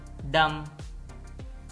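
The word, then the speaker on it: damn: guilt जुरम atom खजा डैम य ल डैम है इसमें एन साइलेंट है डैम लानत लिसन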